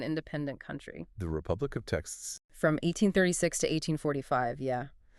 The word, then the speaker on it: Texas: The letter X in the original Spanish orthography of the time often sounded closer to the English she sound, or sometimes H. So more like Texas or Tejas. Exactly. The modern English pronunciation with that hard heart sound, Texas, is actually unetymological. It deviates from the historical pronunciation.